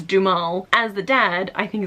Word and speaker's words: Duhamel: hey say his name apparently it's du mal as the dad I